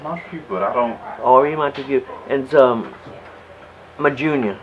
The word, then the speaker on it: Henri: Henri. French. French for Henry. Henri. Henri Montegut. Alright, because I was like, the last name, I was like, I'm guessing my people, but I don't. Henri Montegut.